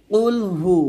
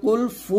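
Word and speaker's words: قل هو: কুলহু ওয়াল বলতে হবে এখানে আমরা কুলফু বলি মানে হা পেশ হু না বলে ফা পেশ ফু উচ্চারণ করি এই যে ভুলগুলা এই ভুলগুলো কিন্তু করা যাবে না কুলফু বলি আমরা অনেকেই ফু না এটা হা পেশ হু এটা কুলহু আল্লাহ হবে লাম খারা জবর ল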